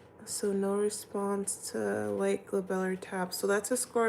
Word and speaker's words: glabellar: Oh yeah, I know my teacher's gonna ask us about the glabellar tap. Is it called the glabellar tap? I need a pronunciation of that right now.